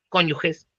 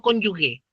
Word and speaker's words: cónyuge: pasan a llamar cónyugez y es cónyugez, no cónyugué. ¿Se han fijado que mucha gente dice cónyugué? No, pues si se dice género, no se dice género, se dice género. Se dice lenguaje, no lenguagüe. No sé por qué dicen cónyugue, cónyugué, un cacho, es cónyuge.